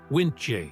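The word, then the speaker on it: Wyntje: He named every boat he owned WinJ, which he pronounced Win.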